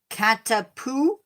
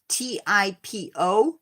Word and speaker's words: Katipo: There's the European black widow, the Australian redback widow, the Katapu. I'm not sure I'm pronouncing that right. It is Katipo.